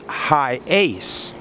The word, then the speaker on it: Hiace: a little research and he says it's pronounced high ace hi ace something like that i'm